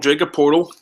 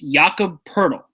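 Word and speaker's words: Jakob Pöltl: uh I'm gonna just call him Jacob portal it's not right yeah and I I learned this too it's yaka purle yeah yaka purle we were mispronouncing it all year I feel bad so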